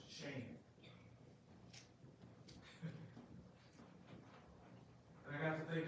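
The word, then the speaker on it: שם: word by my name the hebrew word is pronounced shame and i got to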